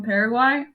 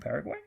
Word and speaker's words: Paraguay: the country paraguay paraguay yeah paraguay it's uh you know how to say parasol parasol yeah okay so you